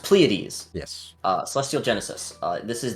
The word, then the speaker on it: Pleiades: Yeah, the last kind of unique thing that we'll show off is, I believe it's pronounced Pleiades.